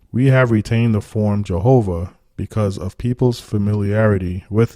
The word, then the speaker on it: Yahweh: It says, while inclining to view the pronunciation Yahweh as the more correct way, we have retained the form Jehovah because of people's familiarity with it since the 14th century.